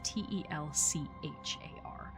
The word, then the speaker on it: Telchar: Quick note, I'm not sure if that is pronounced Telchar or Telkar. It is Telchar, and I'm not sure in Dwarvish if that is a Ch or a K.